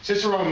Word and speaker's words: Cicerone: Cicerone means guide or docent. It's a Latin/Italian term. It's actually pronounced Cicerone in Italian, but Ray prefers the Americanized version, as do I.